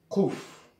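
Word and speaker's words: קוף: Seuls certains anciens Marocains ou juifs du Yémen prononcent le kouf comme il devrait être prononcé, à savoir kouf.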